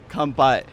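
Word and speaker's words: 乾杯: Kampai.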